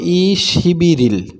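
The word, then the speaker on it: 이십일일: এখানে আপনি বাদ সেম যদি উচ্চারণ করে সঠিক উচ্চারণ করেন তাহলে হবে ইশিবিয়টা এখানে চলে যাবে ইশিবি এবং রিউলটাও এখানে চলে আসবে তাহলে হবে ইশিবিরিল ইশিবিরিল এটা হচ্ছে সঠিক উচ্চারণ এরপরে তাহলে আজকে হচ্ছে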